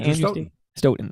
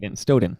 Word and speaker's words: Stoughton: Andrew Stoughton. I always say Stoughton, yes.